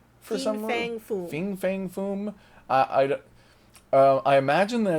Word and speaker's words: Fin Fang Foom: And I've heard a lot of people pronounce it Fing for some reason. Fin Fang Foom.